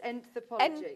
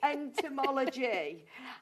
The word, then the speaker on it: entomology: You know, I mean, Jane is obviously a wealth of knowledge on I've got to learn how to say this. Enthropology. Enmology. Entomology.